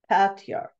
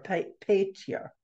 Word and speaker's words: Pater: And the New Testament Greek reads Pater, P-A-T-A-R-E-R, basically pronounced Patiar or Pater.